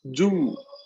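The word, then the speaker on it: 十: El número 10, por ejemplo, es yu.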